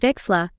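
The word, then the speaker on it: Wechsler: Carroll, David Wexler, and James Flynn. That is so cool. You even pronounced Wexler correctly.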